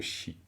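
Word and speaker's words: བཞི: Troisième ligne, vous avez la troisième syllabe, c'est bien chi, les. Hein, c'est vraiment chi.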